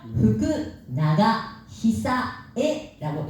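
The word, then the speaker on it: 福永久恵: 이거는 어떻게 읽으냐면 후쿠나가 히사에라고 읽은데요.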